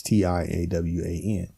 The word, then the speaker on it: Tiawan: But the reality, though, my mom, the way she spelled it originally, it's Tiawan, right? So really, if you think about it, they're right because they're pronouncing the A. You know, that first A.